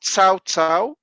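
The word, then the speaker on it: Cao Cao: the biggest kingdom called sao tsao c-a-o-c-a-o of course it's two different chinese characters pronounced differently but in english it's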